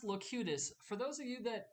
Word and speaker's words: Locutus: very very useful look cutest yes it is pronounced locutus for those of you that have never seen